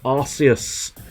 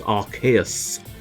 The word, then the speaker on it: Arceus: uh that's why i'm surprised they don't go with it being a hard c because arceus would sound just as epic and it's a made-up word so it doesn't make that much difference but nope they decided us was the destiny of that game we